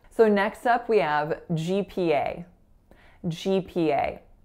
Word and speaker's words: GPA: we have GPA GPA so there are three vowels in this word which of course stands for grade point average and listen to the vowels here GPA so all of them are moving they're not pure vowels they're not GPA which I hear a lot so make sure you diphthong guys those vowels pretend